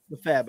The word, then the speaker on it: Lefebvre: Lefebvre.